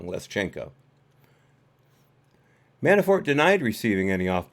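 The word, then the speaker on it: Leshchenko: guilty so it's less less changko I pronounced that wrong leschenko manafort denied receiving any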